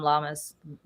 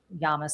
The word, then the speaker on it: Llamas: Um, and they're going to try to compete with David Mure and they're going to try to compete with Tom Llamas Yamas. Sorry, I was mispronounced his last name.